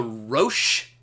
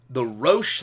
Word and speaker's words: Roche: of that danger zone it's called the Roche limit and that's a little bit of a weird word it's spelled our Oh see h-e-b Roche limit is the edge